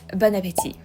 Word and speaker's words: bon appétit: So just drop the T at the end and you'll sound much more French.